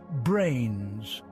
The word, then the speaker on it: brane: There are higher dimensional objects called branes, pronounced like membranes, that play crucial roles. The name brain is deliberately evocative of membrane, and indeed a two-dimensional